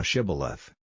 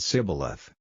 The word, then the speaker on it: Shibboleth: If he said, Nay, then said they unto him, Say now Shibboleth, and he said Sibboleth, for he could not frame to pronounce it right.